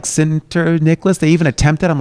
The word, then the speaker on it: Sinterniklaas: Sinterniklaas. You almost got my name out right. Did I say it wrong again? Sinterniklaas. It's close enough. It's yeah, that's me. Sinterniklaas.